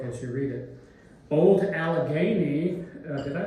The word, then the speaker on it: Allegheny: Old Allegheny, did I pronounce that right? It's Allegheny, not Guinea.